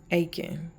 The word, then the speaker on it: Achan: of through disobedience of Achan. I looked up his name to get the correct pronunciation. It's Achan, but I'm just Achan.